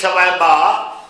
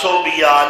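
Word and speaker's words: ثویبہ: ابو لہب دی لونڈی سویبہ، عام لوگ صوبیہ لوبیا غلط نام رکھ دینے، تلفظ غلط بول دینے، کنزہ لفظ ہے، اور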